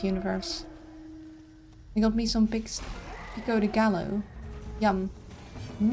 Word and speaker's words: pico de gallo: It's Spanish, pronounced Pico de Gallo.